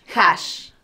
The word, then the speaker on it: Ha*Ash: por estar aquí y se pronuncia Hash o haash Hash Hash excelente ya lo dijiste